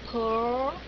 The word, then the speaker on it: pearl: Ờ, pearl, bấm chặt môi.